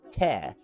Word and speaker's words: te: The informal second person singular pronoun in Hungarian is te. And it sounds like the word for you used in many other languages purely by coincidence.